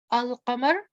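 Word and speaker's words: القمر: Al-qamar. Al-qamar means the moon, and you can see when you hear al-qamar, you can hear the lam. Ash-shams, as you can hear that I'm not pronouncing the lam.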